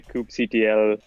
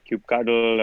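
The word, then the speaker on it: kubectl: I just noticed like you're in the coop CTL clan you're not cube cube cuddle or no I pronounced incorrectly yeah I was just gonna point out that that is a point of contention for a lot of people out say hello die on this is definitely coop CTL so but you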